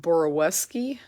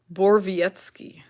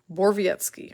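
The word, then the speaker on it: Borowiecki: say this guy's name because I've been saying boroweski because I thought that's what I heard someone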